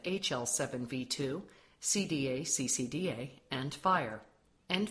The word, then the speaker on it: FHIR: does fire stand for although it is spelled fhir it is pronounced as fire f stands for fast